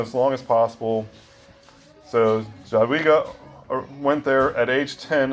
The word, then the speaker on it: Jadwiga: And that's how supposedly it's pronounced, Jadwiga.